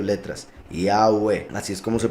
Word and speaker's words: Yahweh: Entonces es como una I, como una A, como una U y como una E. Cada una de las 4 letras. Yahweh, así es como se pronuncia, I-A-U-E.